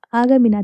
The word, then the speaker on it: आगा मीना: और मैंने पिछले एपिसोड में गलत नाम प्रोनाउंस किया था, आगा मीना था, गुल नहीं था वो।